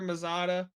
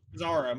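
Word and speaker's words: Mazara: started off with a bang today Chad Baker mazada is that how you is that how you pronounce mazaro mazaro my bad comes out and did did did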